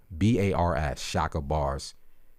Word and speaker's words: Chakabars: His name is spelled CHAKABARS, Shaka Bars.